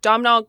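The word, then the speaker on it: Domhnall: Haley Atwell and um, how do you say his first name? Domnal Gleason. Is that how you say his first name? Am I getting that right?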